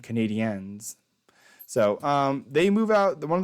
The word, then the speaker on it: Canadiens: You gotta say it properly. Canadian fans get mad. Canadiens.